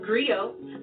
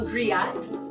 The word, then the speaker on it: griot: It's pronounced griot, or in English, a griot.